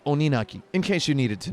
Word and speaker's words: Oninaki: guarantee that the name of this game is pronounced Oni naki not Onan a key or Oni naki or Oni naki it's pronounced Oni nukkie in case you needed to know that now